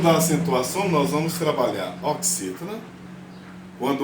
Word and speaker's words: oxítona: Imagine aqui a palavra oxítona, por exemplo. O acento não está aqui, então essa aqui é minha sílaba tônica, o si, o x com som de S.